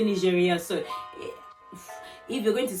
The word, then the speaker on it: Nigeria: Just because if you're in France and you're speaking French, you're not going to say Nigeria. You say Nigeria.